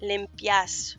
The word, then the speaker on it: limpias: So, tú limpias. Remember, it sounds like a Y when put next to an A. Limpias.